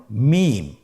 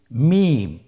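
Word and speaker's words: ميم: মিম। হরফটির নাম কি? মিম। মিম হরফটি উচ্চারণের ক্ষেত্রে অবশ্যই বারিক হবে, পাতলা হবে এবং তিন আলিফ টেনে উচ্চারণ করতে হবে। আমার সাথে আরেকবার চেষ্টা করুন। মিম।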